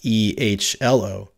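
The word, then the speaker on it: EHLO: In the real world, the hello command has largely been replaced with the ELO command, pronounced E-H-L-O, which allows the receiving server to pass information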